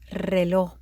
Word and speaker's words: reloj: We call that a double R sound, and that's why there is a double R in the pronunciation there. It's not a typo. It's there on purpose. It's reloj.